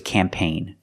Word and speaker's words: campaign: foreign cars too and this word is campaign to g is silent because the GN is at the end it's following the rule